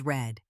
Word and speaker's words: read: Read stays read, but we pronounce it differently. I read a book every night, but yesterday I read a really good book. Same spelling, different sound.